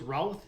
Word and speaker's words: Routh: You spell it, you say it like South, so it's Routh South.